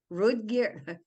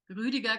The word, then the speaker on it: Rüdiger: to say this word, Rudger, how do you say this name? Rudger Gleisberg. Does that sound right? In German, it is called Rüdiger Gleisberg.